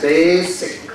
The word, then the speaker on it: basic: word is basic basic there is no Z in the word basic it's an S and it's pronounced as basic grammar grammar or grammar